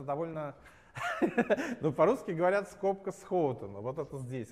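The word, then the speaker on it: Schouten: Эти люди, это оба голландские имена. Первое читается Схаутен, а второе читается Найнхаус. Вот, но это довольно... Ну, по-русски говорят скобка Схоутена, вот это здесь, а здесь скобка Герценхайзера.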